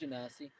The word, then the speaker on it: Genasi: The technologist, who cared about like new designs of lockpicks to like ancient civilization sewer systems, was the Genas, how do you say it? Genasi.